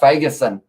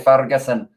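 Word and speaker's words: Fagerson: accent sounds pretty cool i like saying zander ferguson even though i don't think that's how you're supposed to pronounce it i think it's actually uh phagasin if i'm not wrong but i say fargasin because i like a bit of a tongue roll smith kicking around behind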